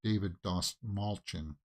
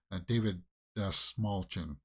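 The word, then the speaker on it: David Dastmalchian: so uh yeah uh in an interview he said just think of small chin and that's how you pronounce it he pointed to his chin he said think about that David smallchin yeah that's how you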